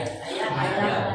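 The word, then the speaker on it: حياة: Nah, itu bacanya hayat atau haya? Hayat. Hay ya, Pak. Karena ha ya.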